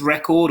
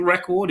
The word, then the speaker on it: record: with the police but the noun is record the verb on the other hand was record so the stress is on the second half record record okay there are lots